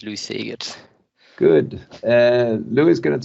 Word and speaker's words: Lou Segers: I don't know if that's the correct pronunciation. It's perfectly fine pronunciation indeed, Lou Segers.